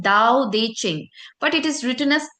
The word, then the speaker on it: Tao Te Ching: है उस उस बुक का उसका नाम है दाऊ देचिंग बट इट is written S टी ए टी